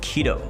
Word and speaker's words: Quito: stream my friend uh it's pronounced it like keto oh so it's not credo it's just keto i gotcha that makes sense uh nicholas moody what's